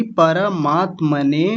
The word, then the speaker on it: परमात्मने: परमात्म ने बोल दिया था। जबकि पर नहीं है। परमात्मने और दूसरा बताइए।